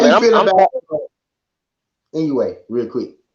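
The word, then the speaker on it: Inoue: nigga Inouye. What'd you say? That's how you say his name. I've been calling that man Inouye, some shit like that. Yeah. NUA, Anui, something like.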